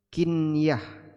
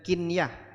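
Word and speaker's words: قنية: Ini disebut dengan mal kinyah. Bacanya kinyah bukan kinyah ya.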